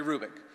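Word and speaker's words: Hrubec: e c terry krubik the h is not pronounced terry rubick she did studies of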